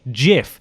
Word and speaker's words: GIF: man who invented the gif image format according to him the acronym is pronounced with a soft G jiff not gif our response to both